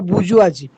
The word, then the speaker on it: bourgeoisie: bourgeois, or also we may that plural is bourgeoisie, bourgeoisie, bourgeois. That's the pronunciation, British pronunciation, American pronunciation.